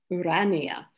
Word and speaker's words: Urania: we are in latin urania second accent on the second syllable where irania leads we